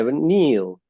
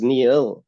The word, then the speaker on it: Neil: it yeah Neil and I realized that when I first said it it broke into um two syllables it was Neil and I was like that doesn't feel true that that feels broken it doesn't feel whole and and very kindly